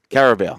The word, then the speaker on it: Carabao: But and I'm probably pronouncing this wrong, the Carabao Cup final. Carabao.